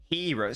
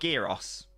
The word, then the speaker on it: gyros: Yeah, even though I said I'm impressed, it's actually pronounced hero. So it is like heroes. So it's heros. So it's not gyros.